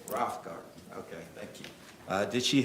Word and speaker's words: Roffengarden: Pronounce it for me. Rough Garden. Rothgarden, okay, thank you.